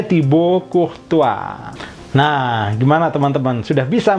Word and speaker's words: Courtois: tua tibok uh tua dibacanya seperti itu karena kombinasi A itu oh ke atas Oh gitu kemudian as tidak bunyi t dari kata tiba out itu itu juga akhiran yang tidak bunyi biasanya tidak bunyi Tibo